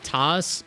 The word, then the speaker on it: Tas: No, it's actually what I tell people is TAS like SAS, which is coincidental considering I work in SAS.